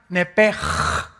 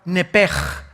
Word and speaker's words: nepesh: La palabra, la letra o las letras sh en del hebreo se pronuncian en hebreo como J. Entonces se pronuncia nepj.